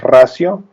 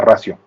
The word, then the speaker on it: ratio: La pronunciación es ratio, ¿no? Porque dicen que en latín, cuando una vocal suave va junto a una consonante, como la T, se convierte en una S, entonces se pronuncia ratio.